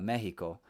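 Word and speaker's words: México: like i was saying mexico is actually correctly pronounced in spanish uh mexico and um you know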